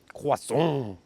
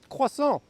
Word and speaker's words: croissant: Oh, and for the American viewers, it's not pronounced croissant, like if it's something dangerous and scary. It's just croissant.